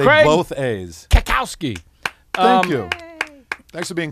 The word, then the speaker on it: Cackowski: I believe she pronounces it. Schaal. Say Craig both A's. Cackowski.